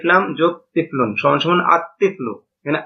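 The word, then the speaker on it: الطفل: তিফলুন আলিফ লাম যোগ তিফলুন সমান সমান আতফলু এখানে আল তিফলু এটা গলত উচ্চারণ লামটা উচ্চারণ হবে নাভাবে রজলুন আলিফ লাম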